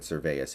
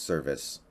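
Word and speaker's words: Servais: I keep pronouncing it Cervais, it's Service.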